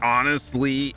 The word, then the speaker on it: honestly: __ ] him there's plenty of words with the silent h i mean you got aeris heirs hourly honestly heirlooms homage horders well